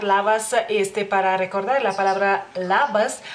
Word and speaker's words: labas: En lituano la L tanto puede ser más suave como más firme, por así decirlo, y en la palabra labas es más firme, ¿no?